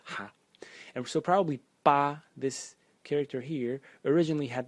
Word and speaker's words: 疤: The second character in this series is pronounced also ba in the first tone, and its meaning is a scar.